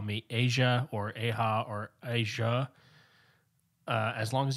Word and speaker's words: Aja: a long story but here in spain we pronounce it aha or aha aha but